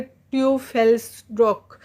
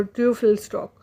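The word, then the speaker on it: Teufelsdröckh: इसका प्रोनाउंसिएशन आप देख लीजिए, ट्यूफेल्स्ड्रॉक। तो ट्यूफेल्स्ड्रॉक।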